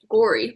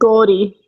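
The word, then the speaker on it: Gauri: to the audio book what does the audio book say gory but like with an accent gie yes with a tiny little rollar that's the only kind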